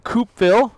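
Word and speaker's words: Coupeville: we've made it to coupville I believe it's pronounced coupville c u pville um is a historic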